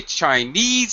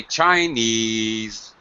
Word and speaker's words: Chinese: Chinese KN is stressed if I say citizen sit first syllable is stressed but I cannot say Chinese citizen it sounds like I'm shouting sounds weird so instead I say Chinese low KN citizen he's a Chinese citizen